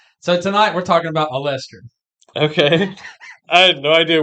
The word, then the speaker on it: Olestra: No, so Olestra, I looked up Allestra, and all I got was birth control and IUDs. Yeah. I guess the way I pronounced Olestra to you.